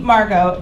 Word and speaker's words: Margot: horrifying time so I my name Margo as you can see ma RG ot has been the bane of my existence my whole life this silent T at an American name is something that most